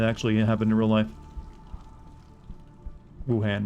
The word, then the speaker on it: Wuhan: about when it actually happened in real life wuhan wuhan gotta say it right mctavish denied the allegations